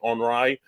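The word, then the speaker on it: Henri: Henry because it was the French Canadian pronunciation of Henry onri so the uh National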